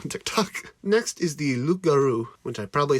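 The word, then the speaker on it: loup-garou: Tock next is the lugaroo which I probably say weird because my mind wants me to say Loop but it's French which is stupid so the p is silent so it's good this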